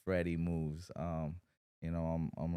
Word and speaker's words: FredEMooves: Well, my name is Freddy. You know, contrary to how people want to u pronounce it because of the way it's spelled, it's Freddy Moves.